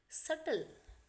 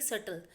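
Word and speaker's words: subtle: सब due next इ सटल एस यू बी टी एल ई यहां पर आपका जो बी है वो साइलेंट है इसको हम बोलेंगे सटल सटल होता है बड़ी स्मल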